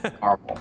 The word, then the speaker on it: caramel: So one night we were talking about how to pronounce caramel, which is pronounced caramel. Now, but I know people are going to say, well, there's a second A for a reason. You say the second A, but it's just very, you know, if I